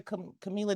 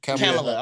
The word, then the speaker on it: Kamala: Do y'all think why Camila didn't get picked? Kamala.